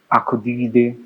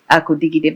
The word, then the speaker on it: Akudigide: Okay, please pronounce it yourself. Akudigide. Akudigide. But that was what I said. Isn't it different? That's the correct pronunciation.